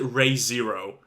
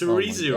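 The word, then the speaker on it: Re:Zero: correcting him when you you still pronounce it ray zero re-zero ray zero it's re-zero oh my god now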